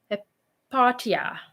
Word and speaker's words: Hypatia: And how do you pronounce her name? Where's her name? Hypatia.